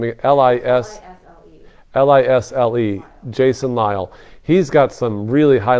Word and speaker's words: Lisle: It's Lisle, isn't it pronounced Lyle?